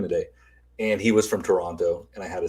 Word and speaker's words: Toronto: when they say it they don't pronounce the last t it's toronto okay if you hear